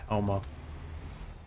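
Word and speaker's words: Houou: Technically, this place would be pronounced Halma. H-O-U-O-U, like out. But English language is terrible, so it's probably not.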